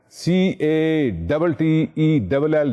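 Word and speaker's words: Cattell: trade theorists Ron Cel c a t e l don't pronounce his cattle it's catel British psychologist TR theorist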